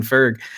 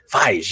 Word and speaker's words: Feige: of, like Star Wars, Mando and everything, Kevin Ferg. And so, or Fergie or whatever. Feige.